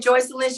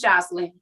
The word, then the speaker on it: Jocelyn: hop on over here it's jocelyn i said joyce lynch she said it's jocelyn every time clean and